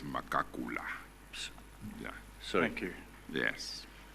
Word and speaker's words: Magagula: It's transcribed in the evidence as Magagula. There is a surname called that, and it is pronounced as Makakula.